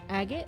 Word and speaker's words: Agat: And we're going to begin in the village of Agat. Agat! You got to say it like that, Bree. Okay. You say it with your chest.